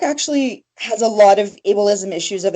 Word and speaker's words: ableism: And just in case there is somebody who doesn't know the definition or what you define as ableism. I'm not even saying it right. Ableism.